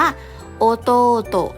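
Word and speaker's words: おとうと: ถัด ไป น้อง ชาย นะ คะ อ่าน ว่า โอ โต๊ะ นะ คะ โอโตะ น้อง ชาย น้อง ชาย เนาะ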